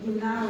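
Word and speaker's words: γεννάω: It's pronounced yenao in Greek.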